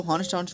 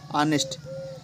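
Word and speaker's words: honest: जो हॉनेस्ट होता है, इसको होनेस्टनेस्ट बोलते हैं। लेकिन इसका सही है क्या? ऑनेस्ट तो यहां पर यह ऑनेस्ट होगा। ऑनेस्ट में जब उच्चारण में आ रहा है तो वहां पर उसके लिए एन का प्रयोग होगा। ऑनेस्ट हमेशा में ऑनेस्ट जब बोलते हैं तो उसमें जो हमारा उच्चारण आता है तो आ का आता है।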